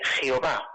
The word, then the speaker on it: Jehová: A diferencia, si alguien le hablara hoy día del nombre Jehová, la pronunciación más utilizada en español para la forma hebrea del nombre propio de Dios, ¿con quién le identificaría?